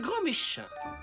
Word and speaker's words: Grandméchant: votre professeur remplaçant monsieur grandméchant veuillez prendre place il est où Monsieur Ernesto attendez vous vous appelez monsieur grand méchant ça se prononce grand méchant et ça sera au